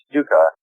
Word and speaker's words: Stucka: It's pronounced Stuka, but no relation to the German terror weapon in World War II.